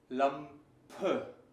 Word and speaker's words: Lampe: The word Lampe, lamp, if you listen thoroughly, Lampe, and you hear something like a weak O umlaut, Lampe.